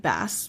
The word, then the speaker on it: bass: Although it is spelt like bass, we do not, it is not a fish. We are not reading the fish clef.